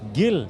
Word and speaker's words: Gilles: Gilles. He is a cinematographer. I will first get the pronunciation right. Yes, sir. Did I get the pronunciation right? Gilles. Gil. Yeah. Oh, Gil.